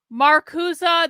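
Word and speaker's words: Marcuse: Marusa that's not the way you spell it but that's the way it's being pronounced.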